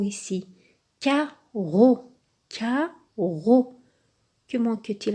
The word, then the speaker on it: carreau: Mais les deux se prononcent comme un seul R.